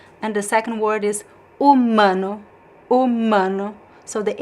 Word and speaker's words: humano: And the second word is humano. Humano. So the H is silent, and then we have the word mano.